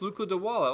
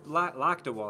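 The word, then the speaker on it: Lakdawala: oh you guys like cyrus luca de walla oh me too there's cyrus luca dewalla or luke dewalla luke locked a wall i was pronouncing wrong cyrus locked a wall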